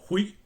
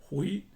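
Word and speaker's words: 悔: También con un sonido un poco diferente tenemos el hui, que significa instruir o enseñar.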